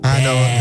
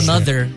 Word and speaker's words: Anno: Anno the Double N, by the way. Yep. Anno. It's not another because people do mispronounce it.